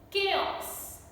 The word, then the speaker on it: chaos: Then anchor, echo, chaos, chaos. H is silent.